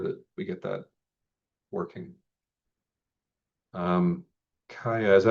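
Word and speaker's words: Kia: Kaya, is that how you pronounce that?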